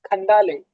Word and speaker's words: Khandale: It's the name is not Khan. It's Khandale. It's the Marathi title, so it's pronounced too difficult.